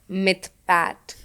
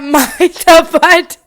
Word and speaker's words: Mythpat: for me they were all watching for Mr mythpat which I learned how to pronounce dude n so bro